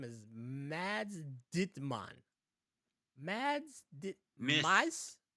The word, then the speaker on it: Mads: Mads Mikkelsen. Mads Mikkelsen. Mice Mikkelsen. Mads So you Mikkelsen. don't even pronounce the D.